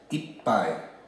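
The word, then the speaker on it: いっぱい: Now this pai it can be pronounced in several different ways depending on which number comes before it or which word comes before it. But with ichi turns into i, and then this pai or bai or whatever, in this case is pai.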